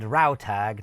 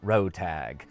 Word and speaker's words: Rautag: Secondly, my main villain is named Rautag, not Rotag.